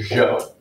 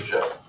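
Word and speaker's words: Zhou: about is known as the show which is confusing it starts with the z is spelled z-h-o-u the show both of these dynasties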